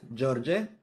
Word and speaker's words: George: So here we have this E, which is not pronounced because it has another vowel after. But here we have this E, which has to be pronounced because it's the only vowel that is.